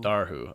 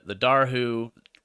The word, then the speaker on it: Dobhar-chu: How do we pronounce it again? I'm just gonna Dobhar-chu. Dobhar-chu. Okay. The Dobhar-chu, the number 2 Dobhar-chu notices the man and